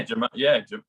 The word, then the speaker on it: gematria: Yeah, Gematria.